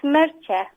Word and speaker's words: Mertxe: Yep, it's Merche. Merche. Ch. It's a ch sound. Merche. Yeah, Merche. Merche. Yeah, it's short for Mercedes. And in the Basque Country, the ch sound is a TX.